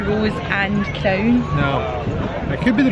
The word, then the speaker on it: Rose and Crown: Yeah, we've never seen anybody other than people from the UK who can pronounce this correctly, so all we hear is Rosencrown. It's never the Rose and Crown.